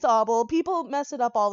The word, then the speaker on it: Oble: It's Oble because it makes you want to wobble and it rhymes with cobble.